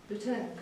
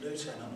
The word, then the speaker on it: lieutenant: Is it lieutenant or lieutenant? Lieutenant is American pronunciation, lieutenant is English. Yeah, we don't use lieutenant in the UK. It's lieutenant.